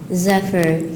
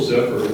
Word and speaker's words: zephyr: Are there any alternate pronunciations? No, there are not. Zephyr. Can you please use this word in a sentence? The gentle zephyr was not sufficient to keep Renee's kite airborne.